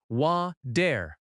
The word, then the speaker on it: water: Water in American English often has a soft t sound. It sounds like wa-der.